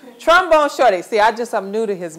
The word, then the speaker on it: Trombone Shorty: Shorty Trombone from New Orleans has a special place in my heart. Trombone Shorty. I said it wrong. Trombone Shorty.